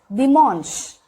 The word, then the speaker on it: dimanche: We do have ch, but it is pronounced as sh. Okay. For example, dimanche.